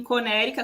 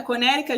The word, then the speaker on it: Connecticut: É, Então assim, você acha que tipo eu vi que você foi lá em Conérica. Conérica, gente, é Connecticut, né? Que a gente fala, só que aqui pronuncia diferente.